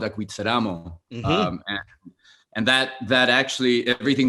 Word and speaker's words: Acuitzeramo: conversation, which is I'm going to try to pronounce it okay, correctly. okay. Is Acuitzeramo. Acuitzeramo, yes.